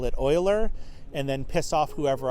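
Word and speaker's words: Euler: Is is it pronounced Uler or Oiler?" Um, you know, um, I would I would probably pronounce it Uler if I was reading it for the first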